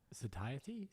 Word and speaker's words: satiety: Satiety satiety operate talks about nutrition, digestion and the connection between dietary habits and well-being.